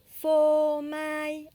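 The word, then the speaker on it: phô mai: Ensuite, nous avons fomaille, accent neutre partout pour dire fromage. Fomaille. PH se prononce F.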